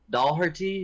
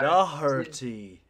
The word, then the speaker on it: Doherty: It's really pronounced like it's spelled Doherty, but you can't really say that without sounding like you're trying to have an Irish. Doherty. Doherty. Like you pronounce all the letters. I was like, you don't pronounce all the letters, but it's really Doherty.